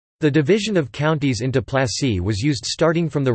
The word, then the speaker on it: Plasă: Plasă, Romanian pronunciation, plas, plural plasi, place, was a territorial division unit of Romania, ranking below county Judei and above commune.